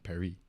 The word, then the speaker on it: Paris: you're supposed to know you're supposed to pronounce Paris so that it rhymes with Emily so like Emily and Perry and then I well